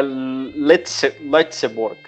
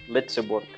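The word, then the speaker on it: Lëtzebuerg: É Letzeborg. Letzeborg. É um L, E com trema, Zeborg. Eu acho que é isso, tá?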